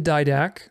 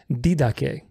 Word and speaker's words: Didache: In the Didache, which, by the way, people who are correcting me on the pronunciation of Didache and telling me that it's pronounced Didache, it's not pronounced Didache.